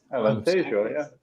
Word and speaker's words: Alentejo: How do we actually pronounce it? Really, Alentejo. Yeah. Alentejo, yeah.